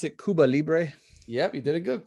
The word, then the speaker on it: Cuba Libre: Let's listen to how you pronounce it? Cuba Libre. Yep, you did it good. Cuba Libre.